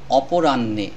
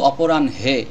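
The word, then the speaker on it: অপরাহ্ণে: সহজ হতে হবে অপরাণ্যে এখানে এই হ অক্ষরটি উচ্চারণ হবে না জাস্ট এখানে ন অক্ষরটি এই হ এর পরিবর্তে আরো একটি ন নিয়ে আসবে দুইটি ন উচ্চারণ করলে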